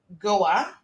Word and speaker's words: Goa: Misha is actually from Goa, I think is how it's properly pronounced.